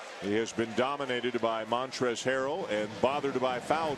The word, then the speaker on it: Montrezl: nobody inside didn't have the L at the end of montrezl is silent that's the only thing